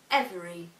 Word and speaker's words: every: The same applies to the following words: every, different, interest, and extraordinary.